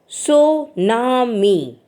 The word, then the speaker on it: tsunami: destruction of lives and property the word tsunami pronounced Sunami comes from two two Japanese words Sue means